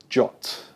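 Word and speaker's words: JWT: so we're looking for the the jot is is how we've agreed we're going to say it right we're looking for the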